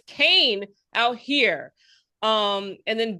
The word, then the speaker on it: Kean: of New Jersey, they say ke an is pronounced Kane. Yes. And I know people like what? Like don't No, we don't know that. The rest of the world says King, but it's Kain out here.